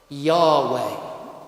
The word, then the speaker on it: Yahweh: word and nearly all scholar think that it's pronounced like this Yahweh and in the Old Testament God's name is not God it is Yahweh it's all over the Old Testament let me